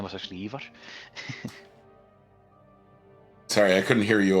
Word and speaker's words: Ivar: Or you call him Ivar, but his name was actually Ivar. Sorry, I couldn't hear you over the sound of pronouncing it incorrectly.